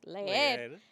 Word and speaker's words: leer: And then he's saying leer, right? But the correct way to say it is leer.